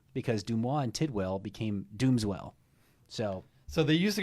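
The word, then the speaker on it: Doomswell: people that don't know our name doesn't mean like doom swell it's pronounced dooms well so it was actually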